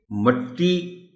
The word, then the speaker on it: مٹی: لفظ مٹی، محترم ٹیچر، یہ ان الفاظ میں شامل ہے جس کے دو تلفظ بھی صحیح ہیں۔ مٹی آپ مٹی بولے یا مٹی بولے، دونوں درست ہے۔ دہقان، دہقان اسی طرح